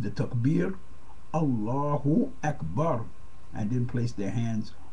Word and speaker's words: Allahu Akbar: But it is pronounced Allahu Akbar.